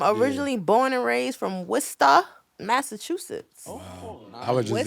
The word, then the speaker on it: Worcester: Worcester. But you know why though? Because Dorchester and Worcester is spelled almost the same way. Yeah. Yeah, exactly. It's not Worchester, right? No, no, it's not Wchester. It's W.